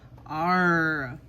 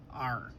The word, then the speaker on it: are: R. Let's try to tap out R. R.